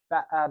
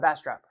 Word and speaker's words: Bastrop: How do you pronounce that county? My bad. That county will be called Bastrop. Bastrop.